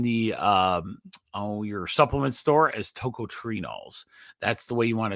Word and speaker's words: tocotrienols: It's tocotrienols.